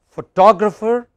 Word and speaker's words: photographer: another word photographic so three different kinds of stress on basically the same related word you have photo photographer photography but photographic can